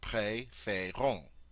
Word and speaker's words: préférons: And it's very easy to say that long A sound there, préférons.